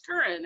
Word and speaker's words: Keren: Even after, I've known them for a while and that type of stuff, or I'll tell them it's Keren, it rhymes with urine.